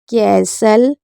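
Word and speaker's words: castle: तो समझ में आएगा एसटी एल ई होगा तो टी साइलेंट रहेगा एसटी ई एन होगा तो टी साइलेंट रहेगा जैसे इसको पढ़ते हैं इसे पढ़ेंगे अपो सल एसल ब्रेसल बसल कैसल फैशन हसल लिसन इसको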